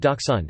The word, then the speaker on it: dachshund: The dachshund, pronounced Dachshund, is a breed of dog with shorter legs and a longer back than most.